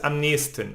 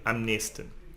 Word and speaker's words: am nächsten: But we pronounce this am nächsten. Almost you don't hear the CH here, am nächsten.